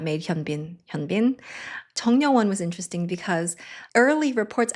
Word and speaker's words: Jung Ryeo-won: I'm going to say, Jung Ryeo-won is probably a name that doesn’t look like it's spelled. It's Jung Ryeo-won So Kim Sun-ah, when